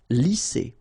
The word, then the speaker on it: lisser: Same thing here. Double S, S. Lisser.